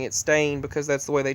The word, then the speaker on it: Stein: But I remember seeing on the books in elementary school E-I-N, and even though they told us to pronounce it Stain, I remember Stein, but I remember calling